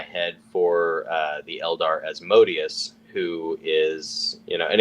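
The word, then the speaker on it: Asmodeus: at you're like wait as modius or sometimes he's pronounced asmodus it's like asmodus is a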